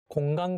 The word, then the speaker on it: 공간: So there's some nasal sound like 니은, 이응, 리을, 미음, and when it's placed next to 그 or 크 sound, its pronunciation changes to 응 sound.